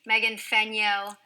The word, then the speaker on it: Fenyoe: Megan Fenyoe, there is an E in her last name, but it is silent.